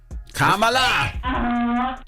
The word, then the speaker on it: Kamala: Donkey of the day should go to all those idiots that can't say Kamala Harris and they keep getting her name wrong. How stupid are you, or what? Kamala!